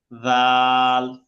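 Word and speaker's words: ذال: মতোই উপরে এক নুক্তা, পড়তে হবে পাতলা করে, জাল, জাল, জাল। জাল হ্যাঁ, জাল এই জায়গায় মানুষে মিস করে কোনটা, আমি ভুলটা বলে দিব যেন না হয়। মানুষে বলে জাল, জাল, এই যে শক্ত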